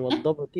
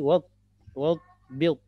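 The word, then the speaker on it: وَاضْبِطْ: wadbit akhirahu akhirahu wadbati wadbit bukan wadbati wadbit. Oh, wadbit. Ya, wadbit. Ya, wadbit. Ya, huruf do ini tidak boleh kolkola ya. Wadbit.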